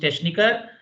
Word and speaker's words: Techniker: So after EICH is sir, and after AOUCH is kha. So here it should be pronounced Techniker, and here it should be pronounced Wochenende. Wochen, CH is kha here, and after ECH is sir.